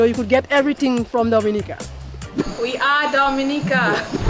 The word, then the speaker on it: Dominica: nature you know you could get everything from dominica we are dominica we call it dominican nature nature yeah we love dominica and i hope you love it as well